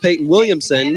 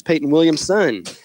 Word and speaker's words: Peyton Williamson: whose name I was apparently mispronouncing the entire day on Saturday, not because it was hard to pronounce, but because I left off the sun on the end of Williams. So I was calling him Peyton Williams all day. His name is Peyton Williams' son.